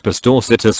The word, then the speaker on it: Pastorcitas: I said the soft C is pronounced like an S. An old lady in the group said it was pronounced like the CH in cheese. I said you're thinking of Italian. In Spanish it's pronounced as an S, or in many European Spanish dialects like a TH.